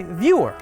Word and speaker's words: Vyor: But you go by Vyor with a Y, not Vzor with a Z.